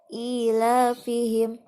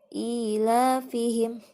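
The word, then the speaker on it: إِيلَافِهِمْ: membacanya liila fiquraisin quiet Berikutnya ini ada kasrah berdiri kasrah berdiri terus Fatehah terdiri dua-duanya dibaca Dua harokat ilafihim ilafihim Smash membacanya dua harokat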